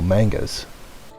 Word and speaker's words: manga: series of Tokyo ghoul mangas manga manga manga you call yourself one of us and yet you say manga with a long a Wow I've got the